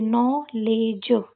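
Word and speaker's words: knoll: के को साइलेंट रखेंगे। नॉल पढ़ेंगे इसको। क्या पढ़ेंगे? नॉल। अगला देखते हैं।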